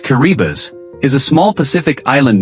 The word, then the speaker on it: Kiribati: Kiriati pronounced Kuribas is a small Pacific